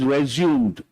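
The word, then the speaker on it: résumé: we pronounce this resum it's a French word resum that is actual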